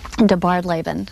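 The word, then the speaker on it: DeBardeleben: they found a family in Birmingham and it's pronounced debarred Laban and that's actually Margaret's middle name and she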